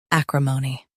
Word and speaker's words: acrimony: a-crim-o-ny a-crim-o-ny US has mo. UK has ma.